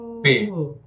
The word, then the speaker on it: Pei: His Instagram handle is Get Paid, PEID. So pay, PEIPAY. That's the pronunciation.